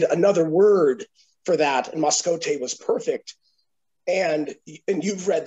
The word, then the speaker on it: Mascotte: Mascotte is how it's pronounced, which means mascot.